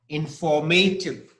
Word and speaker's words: informative: Informative. Yes, that's right. Informative. Okay, and the stress is on for, informative.